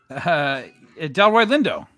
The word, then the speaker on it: Delroy Lindo: Can you pronounce his name? Delroy Lindo.